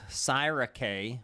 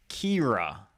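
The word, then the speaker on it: Ciara: So now I'm going to intentionally do this. Syra K, but it's not. It's not Sierra either. So I knew I wasn't going to read ahead. It's pronounced Kira, because Kira is a good Irish girl.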